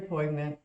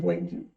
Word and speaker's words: poignant: When I got so long, but And very poignant. is it poignant? Poignant. Poignant. She says I always poignant. pronounce the G when you're not supposed to.